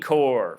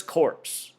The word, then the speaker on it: corps: And they tell us the word is corps, but look at the word. If you didn't know English and you were learning to pronounce, you'd think the word is corpse. Looks almost like how we spell corpse.